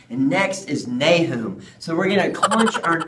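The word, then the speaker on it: Nahum: the baby Jesus that's right and next is nay whom so we're gonna cut your nose and try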